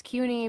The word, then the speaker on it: Cuny: I just told you how you know that it's CUNY because it rhymes with puny because kids would call me puny CUNY when I was little.